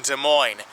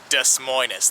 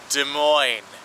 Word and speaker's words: Des Moines: not especially here in De Moine capital of the Hawkeye State whatever you do though don't call it desus that is not how it's pronounced de Mo capital of Iowa what